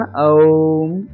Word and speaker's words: ओम: ओम में आकार, उकार और मकार सम्मिलित हैं। ओम का सही उच्चारण ओम ऐसा होता है।